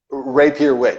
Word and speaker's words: Rapier Wit: and then you're at like your posters on Rapier Wit, or how do you pronounce that? That was a serious question. Rapier Wit, yeah, that's correct.